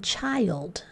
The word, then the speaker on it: child: just child there now what sound is happening in child in the vowel chai old it's a long I sound and yet if we